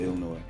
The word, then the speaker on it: Illinois: even though you know we don't really pronounce the s with illinois yeah but you know